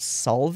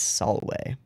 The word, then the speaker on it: salve: words are w's so it's not salve it's solway salwy yeah solway and then the ecclesiastical version is salve which is wrong um so you can